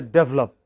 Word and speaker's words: develop: How should we pronounce the first word? Develop. What is it? Develop. Pronounce it this way. D. What is this? What is this? Develop. Okay. It is this which is stressed, but if you pronounce it as develop, then you know you are misunderstood. Then your listeners think you are talking about develop.